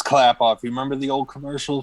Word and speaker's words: Klappauf: It's clap off. You remember the old commercial from back in the day? The clap on, clap off, the clapper? It's Clap clap off.